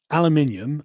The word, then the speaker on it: aluminium: aluminum and distributed issue aluminium and distributed where do you get the i in aluminium what it's spelled with an eye no the second one